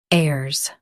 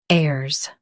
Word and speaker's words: heirs: heirs Now read the syllables shown on the screen naturally. heirs heirs Focus on air and make it smooth. The H is silent.